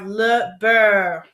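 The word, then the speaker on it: le beurre: have lber lber and a trick to say this word because it can be kind of hard is to say bur but put like a little French accent on it so we have L Bur and another helpful hint when you have that r e at the end of a word you make like a r sound like so might be helpful if you try to practice that so say this word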